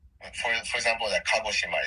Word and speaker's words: Kagoshima: it right now whenever you try to pronounce pronounce like Japanese word try to end every vowel so like for for example that kagoshima it's it's Ka a right so you end